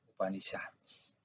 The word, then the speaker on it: Upanishads: En Upanishads, se pronuncia así, Upanishads.